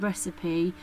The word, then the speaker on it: recipe: We've got savoury, savoury recipe, which is the word recipe, ends with a PE. but it has the Y sound, or it rhymes with a word with a Y on the end of it.